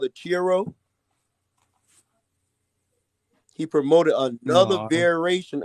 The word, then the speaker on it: Chi-Rho: another vision of a cross, and he promoted another variation of it called the Chiro.